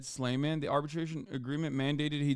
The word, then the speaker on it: Sleiman: trussle on the show his name is pronounced Jed slayman the arbitration agreement mandated